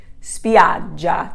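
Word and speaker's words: spiaggia: on the final eye spidja the accent is here over the a so spiad j beaches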